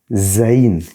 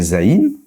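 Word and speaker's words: זין: Le zaï comme son nom le suggère sera en fait au niveau du son l'équivalent de la lettre Z en français. Alors, j'écris j'écris le Z. Je fais un petit trait comme ça. Je descends comme ça. OK. Tac tac. J'ai un équivalent du Z en français. comme dans Z, c'est le Z comme dans zèbre.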